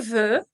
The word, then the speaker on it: veux: De nuevo, la pronunciación c'est e. Es la boca de u, pero pensando, intentando decir la letra e. Entonces queda e, e. Je veux, tu veux, il, elle veut.